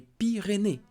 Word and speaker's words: Pyrénées: Les Pyrénées, plural. Do not pronounce S.